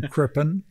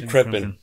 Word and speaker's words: Crippen: name again I'm sorry I'm horrible um at pronouncing names and I don't want to mess it up Jim krippin Jim krippin thank you for joining us today thank you